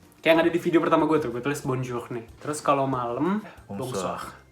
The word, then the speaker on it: bonsoir: journée" and for night, "bonsoir" its the same "bon" and "soir"(night) its a bit different between the pronounce and the writing, because when 'o' 'meets 'i', we say "wa" so why is 'oui...